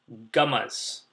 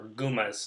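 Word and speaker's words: gummas: face and tertiary syphilis it starts with a g gamas or goomas depending on how you pronounce it so these Gammas are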